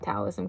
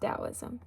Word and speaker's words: Taoism: I always call it Taoism cuz of that T, but it's pronounced Taoism.